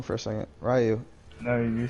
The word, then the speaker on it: Raiyu: Raiyu.